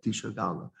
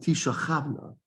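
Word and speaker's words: תשגלנה: So for example, if you take a look in Dvarim Perek Kafchet in the Tochecha, it says Tishagalna, but we do not pronounce it Tishagalna. We pronounce it Tishachavna.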